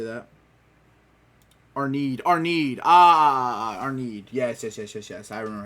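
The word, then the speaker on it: Arnheid: Arneed. Yes. I remember how to say it now. Arneed.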